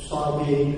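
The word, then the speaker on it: الصابئين: In the Qurrat Welsh it says Sabin and Sabun, because the Quraysh did not pronounce the Hamza.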